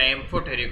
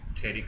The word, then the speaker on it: amphoteric: तो मेटालॉइड्स के जो ऑक्साइड्स होते हैं वो आपके एम्फोटेरिक, एम्फो स्पेलिंग में मिस्टेक कर देना, एम्फोटेरिक, थेरिक नहीं, वो एच कहाँ था।